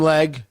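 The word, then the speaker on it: Legge: Have Do I pronounce her last name? Leg.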